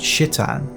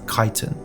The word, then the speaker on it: Kiton: after three whole videos I've been saying kian's name wrong this entire time it's not shitan it's kitan a few jums later